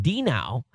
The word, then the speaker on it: Dino: oh it's is pronounced Dino exactly like the uh Flintstones dog so okay so very